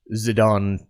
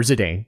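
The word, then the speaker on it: Zidane: But we'll start with Zidon tribal or Zedane. I I call him Zidon because of the soccer player. I believe that's how it's pronounced.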